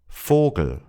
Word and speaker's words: Vogel: Vogel, Vogel. Vater, Vater. Vielleicht, vielleicht. 4, 4. Von, von. It requires a little practice to overcome the instinct to pronounce the V as V, but once you get used to it, it's pretty straightforward.